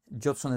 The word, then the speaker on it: Judson: Mi nombre es Judson. Jodson es mi nombre.